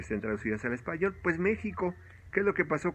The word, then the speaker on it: México: con jota o sea se escribe méxico y se pronuncia méxico así le pidieron a